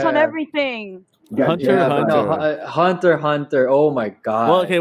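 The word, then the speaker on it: Hunter × Hunter: x hunter yeah yeah it's spelled hunter x hunter but people said that the real the creator wanted it said hunter hunter i'm not sure why he put an x there for dude that's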